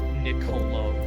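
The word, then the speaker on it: Niccolò: Was it like Niccolo? Is that Yeah, I think actually- pronunciation wise, it's Nicolo. so Nicolo Machiavelli. This is Italian.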